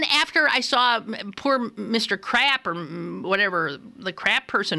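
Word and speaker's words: Crapp: There ain't no other way to pronounce it. It's crap. Now, how would you want your child to have a name of crap? No, you wouldn't. Some family members pronounce it crop.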